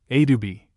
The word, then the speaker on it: adobe: Adobe is pronounced in three syllables, Adubi, and is the Mexican name for a mudbuilt house, which is usually one story high.